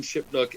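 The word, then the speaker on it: Shipnuck: No, it's, well, between Ron Mintz and Alan Shipnook and all our... Am I pronouncing that right?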